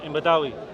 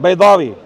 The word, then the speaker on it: Baydawi: Imam Badawi. who? Right. Baydawi.